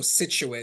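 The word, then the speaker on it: Scituate: section of the town so situ which is spelled scii t a t is another one that's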